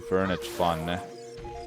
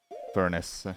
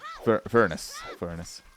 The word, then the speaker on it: Furnace Fun: do Slay the Spire, I just can't do Furniture Fun for Banjo-Kazooie. I kinda wanna do Banjo-Kazooie Furniture Fun. Furnace. Furnace. That's how it's pronounced.